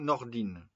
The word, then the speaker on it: Nordin: Sarkozi et Charlotte Nordin Nordine ça s'écrit Nordin et ça se dit Nordine qui vient de sortir